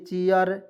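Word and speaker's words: chair: आर आया तो इसमें एयर जोड़ ना दीजिए चेयर चेयर हो गया एकदम यह तो रूल मैंने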